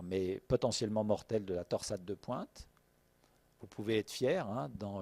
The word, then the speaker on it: torsade de pointes: potentiellement mortelle de la torsade de pointes vous pouvez être fiers dans le langage international anglais c'est le seul mot que tous les cardiologues anglo saxons prononce en français on vous à dire